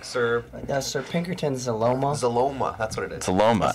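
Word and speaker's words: Xyloma: It's like It's like xylophone but without a phone. And you add a ma.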